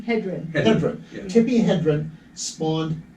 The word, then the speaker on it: Hedren: Hedren.